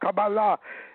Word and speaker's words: Kabbalah: You don't even pronounce the word right. It's Kabbalah, Kabbalah," and I wanted to say, for this kind of study, it really doesn't matter.